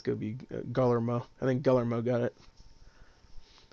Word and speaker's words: Guillermo: That's how I thought Guillermo was pronounced. Guillermo? No, Guillermo.